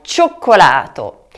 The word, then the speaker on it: cioccolato: spero che abbiate scritto con la doppia C anche cioccolato. Notate la pausa che ho fatto all'interno della parola.